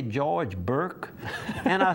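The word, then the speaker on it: Bourque: And they pronounce it Burke.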